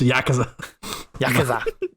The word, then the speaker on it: Yakuza: Yakuza. That's how it's pronounced.